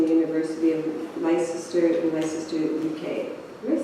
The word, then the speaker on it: Leicester: Gallery Studies from the University of Leicester in Leicester, UK.